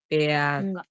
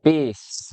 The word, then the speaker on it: peace: Peas, peas, peas. Kayak mana itu? Nah, peace. Bacanya peace.